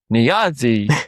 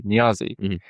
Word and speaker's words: Niazi: Niazi, spelled Niazi, and it pronounced it was Niazi, right? And I'm like, well, that's not how I say it. I say Niazi. So I had to type in NEE dash Y and then ZI, but then it sounded even weirder.